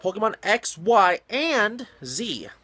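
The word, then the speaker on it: Pokémon XY&Z: coming out sometime who knows when it's called Pokemon X Y and Z that's actually how to pronounce it Pokemon X Y in is an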